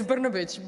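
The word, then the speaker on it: Brnabić: Tell me, you should tell me how it is exactly pronounced. It's Brnabic, but actually it's tough even for Serbs, so don't worry about it.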